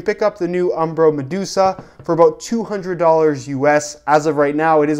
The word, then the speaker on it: Medusae: in fact say it Medusa the E is simply there to make the logo look a little bit cooler it really has nothing